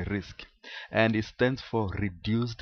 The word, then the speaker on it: RISC: a complex task risc risc is pronounced risk and it stands for